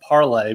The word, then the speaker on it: Parler: dedicated to boomers, but it's a French word and it's pronounced Parler. But, of course, none of its users call it Parler. They Yeah, I've never heard anyone call it Parler.